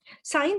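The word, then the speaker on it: scion: मैं इसीलिए कहता हूँ you call love to बी a sect और साइन जो होता है ना, ये CION जो प्रोनाउंसिएशन दे रहा है वो साइन की दे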